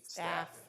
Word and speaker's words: Stave: Did I say it right, Stave? Staff. Like I said, staff.